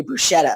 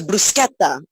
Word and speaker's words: bruschetta: So we were saying in America they say bruschetta, and he's like, oh no, it's bruschetta.